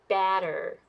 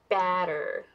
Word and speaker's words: batter: go back to this one this one is pronounced batter batter and this one is butter butter okay so